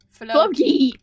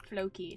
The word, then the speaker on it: Floki: Flocky? Flo? Floki! Floki. So it's Loki, but with an F.